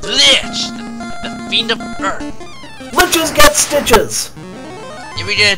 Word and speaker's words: Lich: Liches get stitches! If you get attacked by Lich, what is it? It rhymes with bitch.